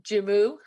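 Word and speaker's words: joumou: do you have a good recipe for soup jummu is that how you say it yeah is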